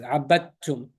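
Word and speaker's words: عابدتم: And this one is abattum, right? The dal is going to not be pronounced. Why? Because it's empty and there's a shadda after it.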